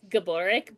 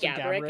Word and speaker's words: Gaborik: He's like, it's Gaborik, but everybody says Gaborik, and that's fine.